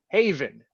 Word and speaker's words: HAVIN: joins us he is the founder director of haven as it's pronounced houston area visually impaired network how are